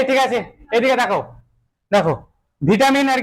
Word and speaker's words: vitamin: ভিটামিন আর কি এবার এর উচ্চারণটা যদি একটু যারা একটু স্টাইলিশ যারা আছে না যারা সিবিএসসি বোর্ডের স্টুডেন্ট আর কি ঠিক আছে তারা বলে ভাইটামিন ঠিক আছে এটা বলে কি ভাইটামিন এবার এই জিনিসটাই যদি তুমি